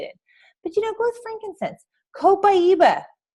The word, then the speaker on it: Copaiba: Copaiba. That's how you say it, by the way. Pie in the middle, Iba. It's awesome.